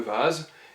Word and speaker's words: Vase: A savoir aussi que les mots d'origine étrangère écrits avec V se prononcent comme dans la langue d'origine. Donc si je prends le mot français le vase, il devient en allemand die Vase et le V sera prononcé à la manière française, donc V.